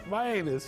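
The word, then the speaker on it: Mianus: My anus. Yeah. Or my yeah, I suppose it's just like Miami, only my anus.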